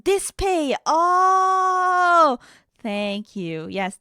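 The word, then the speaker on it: DSPIAE: Oh, it's pronounced dispe. Oh, thank you. Yes, Dispay is the other brand I've heard of.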